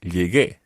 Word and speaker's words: llegué: So to make the G into a hard G sound, even though it's got to be followed by the E, you add in a U. It's a silent U, so it becomes llegué.